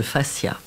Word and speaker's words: fascia: Alors la fasciathérapie, d'abord ça parle de fascia. Ça s'écrit avec un F-A-S-C-I-A, c'est pas la face, hein.